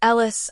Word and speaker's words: Ellis: Why do you call him Alice, Mom? Because that's his name, sweetie. It's Ellis, I muttered. Pronounced Eli.